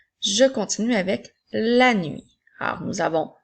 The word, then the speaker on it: nuit: Je continue avec la nuit. Alors, nous avons L, A, N, 8, qui s'écrit cette fois-ci avec la lettre T qui est une lettre muette.